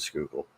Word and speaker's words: Schuylkill: the Schuylkill River, and a lot of people mispronounce that when they read it, that aren't from the area. I mean, those of us from the area, we know it as the Schuylkill, but she was found